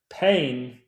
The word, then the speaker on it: Payne: Payne rhymes with Spain.